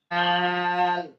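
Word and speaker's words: دال: সিলেটের মাঝখানে খাতার মাঝখানে এরকম একটা লেখেন দাল দাল আবার বলেন রটাকে একটু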